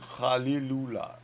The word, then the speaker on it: Khalilullah: It's Khalilullah. Khalilullah. Okay. Khalilullah. Yeah. You kind of pronounce the K as a G or a Kh. It's it's a little bit of a guttural Khalil.